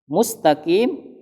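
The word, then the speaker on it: مستقيم: Jadi ingat, ketika dia dhammah, dia harus mencucu monyong, mustaqim. Ketika ada dhammah ketemu dengan langsung yang sukun, maka dia akan kembali mulutnya, mus.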